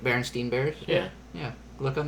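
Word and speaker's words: Berenstain: Berenstein Bears?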